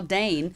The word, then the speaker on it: Dayn: your name because who knows how to spell Dane yeah most people spell it like the dog or right you know